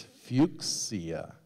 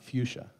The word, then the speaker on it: fuchsia: after a person you use even the regional pronunciation of his name so it's Foria sorry it's fuia it's not fuchsia fuchia it's named after fuches suffer when a